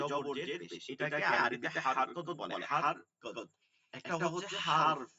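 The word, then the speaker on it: حركة: এটা কিন্তু উচ্চারণটা মূলত আরবিতে কাত হবে, হারকাত মানে কাফ দিয়া। কিন্তু আমরা সাধারণত ওই যে বাংলায় বলি কত, এর জন্য মনে হয় কফ, কিন্তু এটা হচ্ছে কাফ দিয়া।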